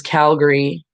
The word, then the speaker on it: Calgary: And Calgary is Calgary. And it's almost like there's no A in it.